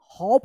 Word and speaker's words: hope: जैसे यहाँ पे देखिए HOP, दो कंसोनेंट के बीच में अगर ओ रहता है तो ओ का औ उच्चारण होता है। ठीक है, हॉप पढ़ेंगे, हॉप, और इसको HOPE, होप, क्या पढ़ेंगे इसको, होप।